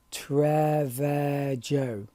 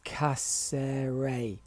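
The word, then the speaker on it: Cáceres: called just a minute trevor joe now that's wrong because uh letters like jay have a different pronunciation and haters and it's casserae i will learn how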